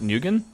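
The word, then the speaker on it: Nguyen: the last name uh I think it's pronounced Nugan. Is that right? What ethnicity is that last name commonly from? Is that Vietnamese? Is it Filipino? Korean? I thought it was Vietnamese. It's pronounced win.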